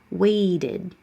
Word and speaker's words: waited: Ends with a T, you have to move your tongue down and back up. You add an extra syllable. Waited. And yeah, that middle T is going to change to a D now.